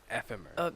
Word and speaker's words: Ephemer: Ephemer. Hey, can I join you? I never knew how to pronounce that name until now.